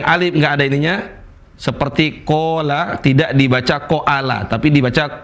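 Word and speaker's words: قَالَ: Qola. Ini kok dibaca panjang bukan dibaca qoala.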